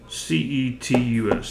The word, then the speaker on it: Cetus: That's the only way I can think to pronounce it. C-E-T-U-S.